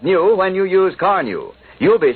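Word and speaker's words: Carnu: You've probably heard people say, your car looks like new when you use Carnew. You'll be saying it yourself first time you use Johnson's Carnew on your car. Carnew is spelled C-A-R-N-U.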